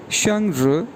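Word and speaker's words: 生日: जी, इसके बाद बर्थडे के लिए जो वर्ड यूज़ करते हैं SHENG first tone, RI fourth tone, ये प्रोनाउंस किया जाएगा शंग्र।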